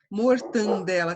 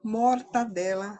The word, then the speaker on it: mortadela: Mortandela também não. Mortadela é a maneira correta.